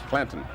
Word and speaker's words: Clanton: DeWaven Clayton, yes. Clanton. DeWaven Clanton. He met Wyatt Earp at the OK Corral.